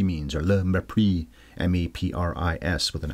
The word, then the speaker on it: mépris: I guess that's what le mépris means, or le mépris, M-E-P-R-I-S, with an accent on the E.